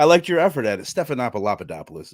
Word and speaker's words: Stephanopoulos: Stephanopoulos is the correct pronunciation.